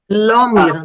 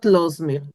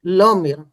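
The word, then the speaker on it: לאָמיר: Lomir, not Losmir. Lomir.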